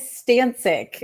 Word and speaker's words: Stancik: It is Stancik.